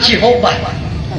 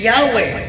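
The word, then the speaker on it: Yahweh: Encyclopedia article Jehova nagingon Jehova properly yahwe ang sakto yahwe Jehova is generally healed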